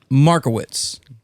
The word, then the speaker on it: Markowitz: States all right Scott marwitz don't forget it you're going to need it if you don't need it now Mar witz it rhymes with tickets How Could You Forget